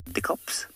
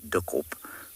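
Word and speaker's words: dikkop: We really shouldn't say dickop for a number of reasons. The first is that it's not the bird's name anymore. The second is that it's a dreadful mispronunciation of duckop, which means thick head.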